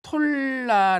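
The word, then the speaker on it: תּוֹלָע: 원어적 의미를 살펴보도록 하겠습니다이 돌라는 히브리어로 톨라 아고 발음하죠 이것은 벌레 구더기라니 있습니다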